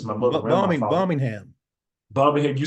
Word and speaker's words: Birmingham: Birmingham.